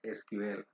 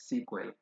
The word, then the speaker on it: SQL: as a sequel um but as Africans most of us we we do pronounce that SQL but uh I think I think uh as as we move on to to move on like our learning you will know that it's you can pronounce it as sequel so initially it was